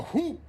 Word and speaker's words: whoop: shout out sir but i actually don't produce the h in whoop sorry all the uniformed officers just left so hoop is big after all